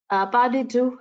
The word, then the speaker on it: pas de deux: So pas de deux, there's a question especially on pas de deux. Pas de deux is the dance between two humans.